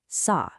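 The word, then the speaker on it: 沙: In Korean, it's pronounced sa and it means sand.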